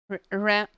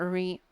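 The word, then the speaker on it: ら: Ra. Ra. Ra. Not re.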